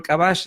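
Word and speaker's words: kabax: Y todo esto yo lo lo voy a por ejemplo acá yo pongo frijol cabash, ¿no? Con la K glotalizada, que es como se pronuncia, cabash de simple, sin condimento, con una ramita de apasote y dosis de sal, ¿no?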